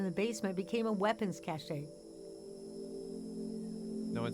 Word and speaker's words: Cache: It's pronounced like cash. Exactly. No one says cachet. I lived in Cache Valley, not Cache Valley, for college.